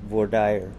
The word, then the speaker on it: voir dire: It's a French word, and it's used during the prospective jurors process when they're going to be on a jury trial.